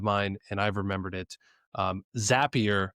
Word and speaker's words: Zapier: Zapier makes you happier. And that's how I remember to Oh, pronounce it. that's good. So And it's a zap, right? It's not a zape.